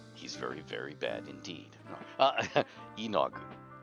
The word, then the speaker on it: Yeenoghu: YEENOGHU. And there are actually people in the realms who will go, YEENOGHU, YEENOGHU. So, any variation on stress and length that you, but YEENOGHU.